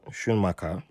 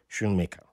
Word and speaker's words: Schumacher: a good friend jeff schumacher who i'm pronouncing his name in the dutch style because in america was issuing shunmika and um he was